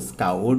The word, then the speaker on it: scoured: ही स्काउर्ड, इसका जो प्रोनाउंसिएशन है वो स्काउर्ड होता है, याद रखेंगे।